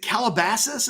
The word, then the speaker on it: Calabasas: Speaking of guys we were trying to get on the phone yesterday, there's a kid named Aaron Butler who's from, is it Calabasas?